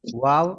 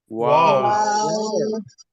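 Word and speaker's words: واو: ওয়াও, ওয়াও উচ্চারণ করতে কয় আলিফ লম্বা হবে? চার আলি, এই যে 4 লেখা আছে আপনাদের প্রত্যেকটা ঘরেই, অঙ্কেল দেওয়া আছে কোনটা কয় আলিফ হবে উচ্চারণ করতে। জি। আর ঠোঁট গোল হবে।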